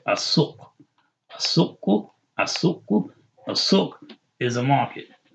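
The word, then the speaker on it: السوق: Asuk. Asuk. And we know we say Asuk because seen is a sun letter, right? Asuk. Asuku.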